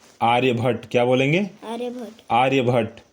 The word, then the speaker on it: आर्यभट्ट: आर S scholars scholars आर्य भट्टा आर्य भट्टा ए आर्य भट्टा नहीं होता है आर्य भट्ट होता है ए आर वाई ए बी एच ए ड टी ठीक है आर्य भट्ट क्या बोलेंगे आर्यभट आर्य